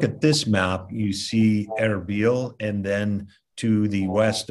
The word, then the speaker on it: Erbil: if you look at this map you see arabil and then to the west of arabia mosul